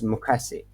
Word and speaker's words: 昔: As you see pronunciation for hiragana, it's mukasi.